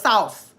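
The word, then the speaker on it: souse: Say it like house. So it's sauce.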